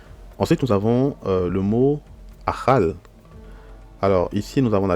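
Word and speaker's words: אכל: Nous avons la lettre Kaf, mais vu qu'on n'a pas de dagesh, donc c'est la lettre Khaf, et nous avons le Lamed. Donc ça se lit Achal, qui veut dire manger, consommer, dévorer.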